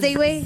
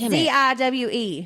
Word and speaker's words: Ziwe: Yes, Ziwi. Yes, I know. Not Ziwi. It's Ziwe.